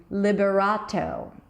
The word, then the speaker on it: Liberato: would turn it into Liberato, Rato, a strong T, and then a long O as in go, not O, but O.